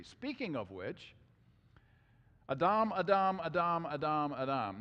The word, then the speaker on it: Adam: Speaking of which, Adam, Adam, Adam, Adam, Adam. Now, why do I say it that way? Because that's how you pronounce it in Hebrew. It's not Adam, it's Adam.